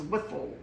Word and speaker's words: Wytheville: Wytheville, Virginia.